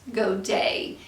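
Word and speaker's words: Godey's: women's fashion magazines um the books sometimes specifically mention goa's magazines it also might be pronounced go day it just depends on who you're talking to and so some of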